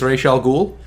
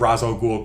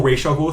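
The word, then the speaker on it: Ra's al Ghul: in Batman which is making the pronunciation of Roswell Ghul closer to the actual Arabic um because the whole racial goal thing that was created by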